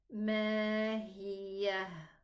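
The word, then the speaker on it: مَا هِيَهْ: But here in this word, the ha is already a sukoon. So this is what I mean by original sukoon. So I'm going to say mahiyah. Pronounce it a ha. What if I connect? Still, it's going to be pronounced a sukoon. I'm going to say mahiyah narun. Okay?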